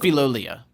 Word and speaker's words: Filolial: Filolial. Filolial. It's filolial. Filolial. Is how they pronounced it.